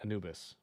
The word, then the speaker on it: Anubis: of the line um Anubis it's Egyptian Anubis rhymes with anus Pac photos what's good